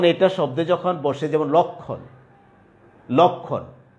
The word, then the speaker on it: লক্ষণ: তো আমরা বলছিলাম যে যদি শব্দের শুরুতে বা আদিতে বা প্রথমে অ থাকে এবং তারপরে যদি ক্ষীয় ম এই বর্ণটা থাকে, তাহলে আদ্য অ এর উচ্চারণও কি হয়? উকারান্ত বা উকারের মতো হয়।